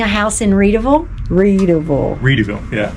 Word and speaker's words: Readyville: Reedyville. Yeah. Like, how do you spell that? READYVILLE. So Yep. it's like Ready Set Goville, but the founder of it is Reedy, Charles Reedy. So Charles it's Reedyville.